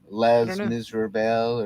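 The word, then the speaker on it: Les Misérables: what was the name of that one um les miserables or yeah there you go that's how you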